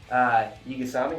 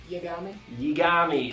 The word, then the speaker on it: Yagami: The main character, Light, Yigasami, how do you say his last name? Yagami, there we go.